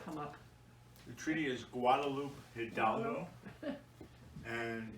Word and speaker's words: Guadalupe Hidalgo: or comment about that treaty how do you pronounce that treaty and how does that name come up the treaty is guadalupe hidalgo and it's it's from mexico it's a region